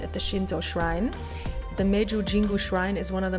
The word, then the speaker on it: Meiji Jingu: All right, so we are at the Meiji Jingu Shrine. Actually, you tell it because I'm way too tired. Well, you said it pretty correct. We're at the Meiji Jingu, I think.